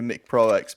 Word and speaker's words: Mick Pro X: You do what everyone else does and say Micro. It's actually Mick Pro X, but we've already questioned him that it's a bad name because everyone just end up saying Micro anyway.